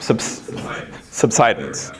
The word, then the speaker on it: subsidence: So the phenomena you're talking about is called subsidance or is it subsidance? Thank you. I never know how to pronounce that one. It's good having a geologist in the room. Subsidence.